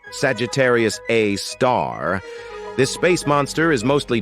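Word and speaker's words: Sagittarius A*: Way isn't an exception we've got Sagittarius A which is pronounced Sagittarius A star this space monster is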